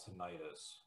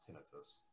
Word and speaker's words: tinnitus: in my ears which i like to call tinnitus which i think is pronounced incorrectly it's supposed to be pronounced tinnitus and i didn't sleep for weeks and when